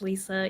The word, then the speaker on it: Lissa: It's pronounced Lisa, even though it has two S's.